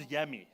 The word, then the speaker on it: Yami: Okay, if you pronounce Yami, okay, and the slogan on it is deliciously different. Okay, but it's also nice on the tongue to pronounce Yami, because it almost comes out as yummy.